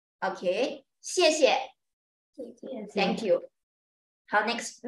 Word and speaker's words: 谢谢: 谢谢, you see the 谢谢, the second one is neutral tone. Pronounced soft and weak.